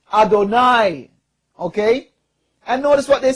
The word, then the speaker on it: Adonai: here's the quote um when Jews encounter cons the consonants of Yahweh yhh or y y he in in prayer they pronounce it Adonai okay and notice what